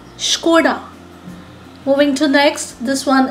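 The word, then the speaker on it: Škoda: The right way of pronouncing it is Skoda. Skoda.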